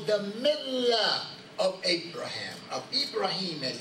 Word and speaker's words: Ibrahim: are to follow the millah of Abraham, of Ibrahim, as it's pronounced in the Quranic Arabic.